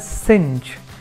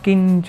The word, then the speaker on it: cinch: सिंच, the pronunciation is सिंच, इट्स नॉट किंच और something else, it इज सिंच.